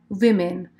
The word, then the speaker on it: women: a na písmenko E ale pozor výslovnost je women já jsem to tady